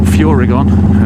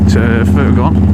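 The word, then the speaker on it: Furygan: bit um I've got my furgon stuff on or figon um however you want to pronounce it I believe that the French pronounce it furgon and it's their brand So and I've got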